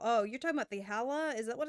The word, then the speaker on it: Challah: How do you go about pronouncing it? Challah. Okay, really? Challah.